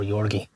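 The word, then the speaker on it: Giorgi: at the time, but I think it's pronounced Yorgi or Yorgi.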